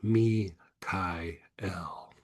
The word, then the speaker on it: Michael: Now, the proper way to say Michael is Mi Kai El.